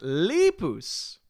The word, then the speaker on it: Lepus: people to win leepu's Tina says it's pronounced leepu's Lepus Lepus is that what